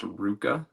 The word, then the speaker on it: RVCA: It's really similar to like Billabong and Quicksilver and stuff but it's actually pronounced Rucca.